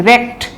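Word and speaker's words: wrecked: হ্যাঁ, উচ্চারণটা কি? রেক, আর র দিয়ে আর কি, রেকড, এইভাবে রেক।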